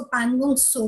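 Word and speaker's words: Pangong Tso: Then पैंगोंग lake, इसको पैंगोंग सो भी कहते हैं, टी इज साइलेंट.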